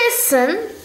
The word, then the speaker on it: listen: my school thinks i listen i listen not i listen not i listen i listen i'll listen we don't pronounce the tea i listen and repeat